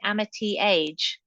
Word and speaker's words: Amityage: do you pronounce it is it Amity age is that how you say it yes so what was